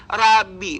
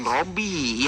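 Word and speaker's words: ربي: kosakata Rabbi itu boleh ya, Rabbi bukan Robby ya.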